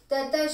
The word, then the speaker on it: tataḥ: Tataḥ śhvetairhayairyukte mahati syandane sthitau mādhavaḥ pāṇḍavaśhchaiva divyau śhaṅkhau pradadhmatuḥ. First line, tataḥ, tata both full, tataḥ śhvetair, sh is